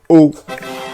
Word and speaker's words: eau: The answer is just one sound. Eau.